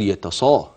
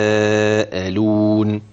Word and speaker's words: يتساءلون: يتسا اه يتسا الترقيق اوعى تقول يتص لا يتساءلون حرف المد جه بعديه